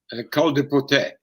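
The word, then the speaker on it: Col du Portet: I'm shocking with my French pronunciation. How do you say that final climb? Saint-Lary-Soulon, Col de Potet.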